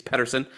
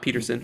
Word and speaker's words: Petersen: It's Patterson. It's not Peterson.